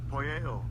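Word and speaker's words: ποιέω: All right, I'm gonna let y'all brothers hear the pronunciation. Strong's G4160. Poeo.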